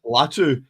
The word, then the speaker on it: Latu: It's Latu.